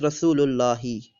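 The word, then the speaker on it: رسول الله: We cannot use al along with Allah, so we just say Rasulu Allahi, or pronounced as Rasulullahi.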